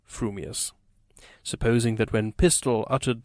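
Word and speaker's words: frumious: your mouth and speak if your thoughts incline ever so little towards fuming you will say fuming Furious if they turn by even a hair's breath towards Furious you will save Furious fuming but if you have the rarest of gifts a perfectly balanced mind you will say frumius supposing that when pistol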